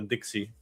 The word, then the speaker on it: DXY: Let's look at the Dixie.